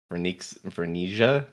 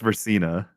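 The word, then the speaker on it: Verxina: I know it has an X somewhere. Vericia. Closer but not quite. Vernicia. Ver. Uh, it's Versina. Versina. Or if you want to take the Japanese pronunciation, Versina. Well, he got us 10,00 not understandable.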